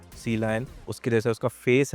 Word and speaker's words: Sealion: हाजी सबसे पहला सवाल सीलाइन को प्रोनाउंस कैसे करते हैं वेल बी वाडी जानी जाती है अपने जो ओशन सेंट्रिक नेम्स के लिए जैसे सील है एटो है वैसे ही सी लायन एक सी मैमल है तो सी लायन ऐसे प्रोनाउंस करेंगे हम बी आईडी सी